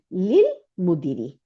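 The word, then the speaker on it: للمدير: তাহলে এখানে আমাদের শিখাইতেছে যেখানে আলিফ নাই, শুধু লাম সুকুন আছে, কিন্তু তাহলে এটা আল, তাই না? আল ছিল, হামজাতুল ওয়াসালের উচ্চারণ হয় না দেখে আর হামজাতুল ওয়াসাল থেকে ফালাই দিয়ে নাম সুকুন আছে, তাহলে লিল।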